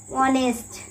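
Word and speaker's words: honest: এখানে উচ্চারণ এইস এর হচ্ছে না, এইস কে বাদ দিলে শুধু ওয়ানেস্ট, অনেস্ট।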